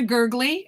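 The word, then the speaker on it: Gergely: If you want some names of people that do that, Dan Shaner, Dana Gurgley. Her name is Donna Gurgley, but it's spelled D-A-N-A.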